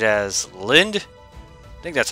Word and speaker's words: Linde: the shadow dragons DLC you say it as Linda I think that's how